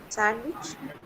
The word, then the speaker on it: sandwich: Sandwich. Sandwich. D is silent.